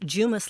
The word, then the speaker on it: Jumis: is actually Greek and it's pronounced jumis like a j so I tell people